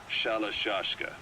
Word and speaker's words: Shalashashka: Someone must have known about that, because somewhere along the line, Shashka got stuck on the end of Sharashka. The guerrillas were using the name amongst themselves, and by the time I got to hearing about it, pronunciation had wound up as Shalashashka.